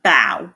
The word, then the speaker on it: bow: about this word bow there are two different ways to pronounce it depending on what you're talking about so if you're talking about bending at the waist then it is bow that's the verb however if you're talking